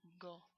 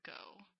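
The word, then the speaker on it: ご: so here's G say go and remember it's a it's not go it's not like our go like I'm going somewhere it's it's go go it's a short sound go and here's Co the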